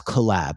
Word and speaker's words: Colab: It's Colab, Google Colab. And it's spelled collab as opposed to collab, like collaboration.